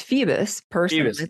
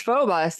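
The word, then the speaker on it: Phoebus: it was f I I thought it was Feebas. Okay. Yeah. It's Phobus and I can say I've heard it both ways.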